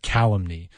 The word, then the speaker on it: calumny: Like calumny is on that first syllable, whereas calumniate is on that maybe second or third.